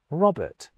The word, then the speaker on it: Robert: To me, the second R in Robert is silent. Robert.